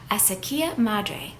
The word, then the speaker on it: Acequia Madre: The casita is located on an iconic street in Santa Fe's historic east side, Acequia Madre, which means mother ditch, which takes its name